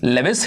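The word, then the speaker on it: Lewis: जिनका क्या नाम है, लेविस हेनरी मॉर्गन, या फिर आप लुइस हेनरी मॉर्गन भी कई लोग इनको बुलाते हैं। आपके ऊपर है, आप प्रोनाउंसिएशन जो भी करो, नाम स्पेलिंग आप सही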